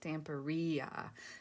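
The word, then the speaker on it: Stamperia: which you guys know i've gone back and forth on how you say it if it's stampiria or stamporia well i was watching um i think it was gail agustinelli sorry guys i think it was galagasanelli and somebody put it in the comments of one of her videos phonetically and she had two capital e's so it was tamperia so anyway i have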